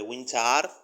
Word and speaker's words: Wintaar: El disco de Winchar con doble A, por eso lo pronuncio así para que quede bien claro, que se llamaba The Last One.